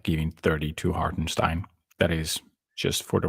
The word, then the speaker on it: Hartenstein: Just say it right, please. Stein, not Steen. Hartenstein.